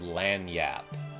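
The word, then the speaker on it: lagniappe: day because he mentioned the word lanyap, which is spelled a weird way, and I'm going to try to spell it in the chat. I think it's spelled something like this, like lag-nia-pipi.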